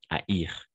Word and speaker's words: haïr: Donc, oui, en effet, la combinaison A et I, on prononce comme E, comme souhaiter, n'est-ce pas? Mais dans ces cas-là, c'est le verbe haïr. Donc, on va prononcer le I. Haïr comme maïs. Anaï et haïr.